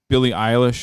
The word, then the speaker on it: Billie Eilish: speaking of like young girl entertainers, I want to talk to Billie Eilish.